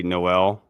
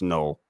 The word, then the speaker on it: Noel: Whenever I interview somebody, they always say Noel. And I'm telling you, like, you look at his Twitter, the first thing, the first pin tweet he had is it's pronounced null.